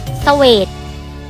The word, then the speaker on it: เศวต: ปรั่ง อ่าน ว่า ฝรั่ง เศวต อ่าน ว่า สวท อาร์สยาม อ่าน ว่า สยาม